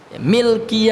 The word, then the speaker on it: Milki: Milki Yaumiddin, lamnya sukun, Pak ya.